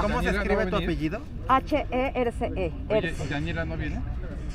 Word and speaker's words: Herce: ¿Cómo se escribe tu apellido? H-E-R-C-E.